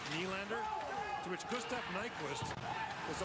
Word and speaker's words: Nylander: In Swedish, N-Y is knee, like Nylander.